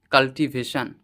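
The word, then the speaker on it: cultivation: দেখো কাল্টিভেশন ওয়ার্ডটির first যে syllable আছে সেটি হলো সি ইউএল এর কিন্তু প্রোনাউন্সিয়েশন আমি কাল করেছি। সি ইউএল কাল। তোমাদের মনে হতে পারে সি ইউএল সাল কেন হলো না? সি ইউএল কুল কেন হলো না?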